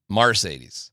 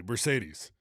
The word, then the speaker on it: Marcedes: UCLA pronunciation guide from 1912 when he was a freshman. Marcaydes. Mercedes. Exactly. Mercedes.